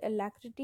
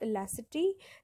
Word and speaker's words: alacrity: Okay, now this has a little bit of pronunciation issue. You can call it alacrity, you can call it elacity. That doesn't bother.